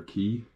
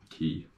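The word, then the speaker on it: Caye: go out to water key I say key it's like c-a-y-e that's how it's spelled I pronounce it is don't really know but I'm gonna go with saying key um and again crystal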